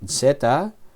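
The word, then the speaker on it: ζῆτα: Algunos enseñan el sonido del nombre de esta letra con la vocal breve, zeta, pero yo lo he aprendido con la vocal larga, zeta.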